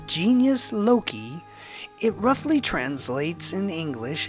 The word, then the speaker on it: genius loci: Pronounced genius loci, it roughly translates in English as spirit of place.